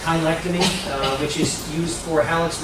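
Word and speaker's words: cheilectomy: So debridement of the joints, this is a kind of a word that a lot of people mispronounce. It's chylectomy, which is used for hallux rigidus.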